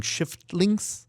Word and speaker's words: Shiftlings: couple of game titles where you have to watch out that you pronounce them correctly, including Shiftlings. So mind the F.